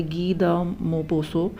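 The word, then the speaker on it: Guy de Maupassant: necklace is written by इसका जो pronunciation है ना थोड़ा सा ऐसा है गी द मो पोसो ठीक है जो टी और एन ये सब साइलेंट है तो अब क्या है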